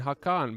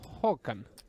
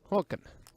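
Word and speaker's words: Håkan: man I've been calling hakan but I've been told that he has an O on top of his a Swedish language course and I was told that it's it's pronounced Hulan Hulan so hwan Falls a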